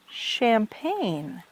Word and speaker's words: champagne: and champagne. Champagne. Did you know that we pronounce champagne like that, Pauline? No, I didn't know. I know. It's a different vowel sound.